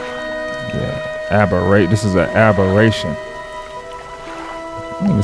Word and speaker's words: aberration: to do a little side bar right quick aberration yeah Aber this is a aberration don't even sound like a word man what